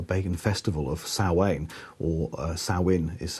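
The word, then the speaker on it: Samhain: belief or a pagan Festival of SA or sawin is how it's pronounced sometimes it was in fact a celebration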